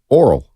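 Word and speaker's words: Orel: He's just not pronouncing his name properly. Who? Hershiser? Yeah. Give me the first name. Earl Hershiser. Oral.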